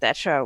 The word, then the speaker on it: Thatcher: It's Margaret Thatcher with Emmanuel Macron's face. Wait, Thatcher. You say Thatcher, right? Not Thatcher. Thatcher. Thatcher. With the tongue on the teeth.